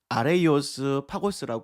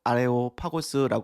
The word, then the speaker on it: 아레오파고스: 설교를 했었습니다 아레오 고는 좀 더 원어적 보면 아레이오스 파고스 발음할 수 있는데요 그걸 줄여서 아레오파고스 하는 거죠 뜻은 아레스의 언덕입니다 전쟁의